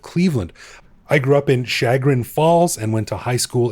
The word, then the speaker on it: Chagrin Falls: heights all right well let me clarify it's pronounced sugar in falls and it's actually where i was staying when